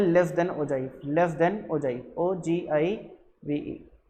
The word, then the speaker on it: ogive: कुछ लोग ओगिव भी बोलते हैं इसको, बट इसका करेक्ट प्रोनाउंसिएशन मेरे ख्याल से ओजाइव होता है, ठीक है ना। जितना गूगल पे देखो तो ओजाइव बोलते हैं, ओगिव नहीं बोलते हैं।